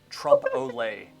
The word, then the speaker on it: trompe-l'oeil: It's trompe-l'oeil. Okay, that's what it is from now That on. is spelled O-L-E with that little apostrophe thing on the top, right?